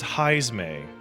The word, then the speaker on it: Heismay: how do you pronounce the rat's name? He is a bat person, Paige, and his name is Heismay.